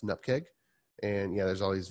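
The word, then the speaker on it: nupkg: cake file any pkg dot any pkg that's pronounced an up cake and yeah there's all these various abbreviations just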